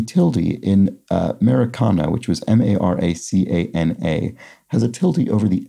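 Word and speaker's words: Maracanã: pronounced kind of like maracana in portuguese at least so with an emphasis on that last syllable so i'm sorry about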